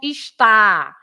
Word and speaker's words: está: Yes, no accents, because this is not está. If you have an accent on the last A, it's the verb.